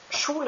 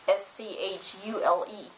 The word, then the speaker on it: Schule: is pronounced SCHOOL, becomes Schule in German, which is pronounced SCHULE, Schule. Even though there is a C. In German, if there is SCH, it's sh.